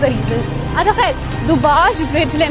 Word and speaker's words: Dubazh: Okay, we are crossing this beautiful bridge, इसको दुबाज bridge कहते हैं। DUBAZH इसके ZH एक्चुअली इसके स्पेलिंग है।